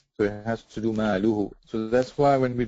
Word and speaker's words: ماله: If you slow it down, so if just say malu. ماله. Hu. هو. Maluhu. ماله. Very good. Before that, you were saying malahu.